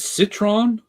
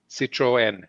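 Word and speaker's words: Citroën: the end is it Citron Citroen what was that Citroen you have to pronounce the E separately because it has a NL sitro in the car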